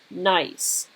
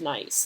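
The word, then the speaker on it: gneiss: and this is pronounced nice it's not spelled that way but it's pronounced nice and the way to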